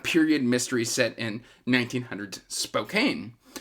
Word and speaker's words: Spokane: mystery set in 1900s Spokane uh no it's spoken no no Patricia you told me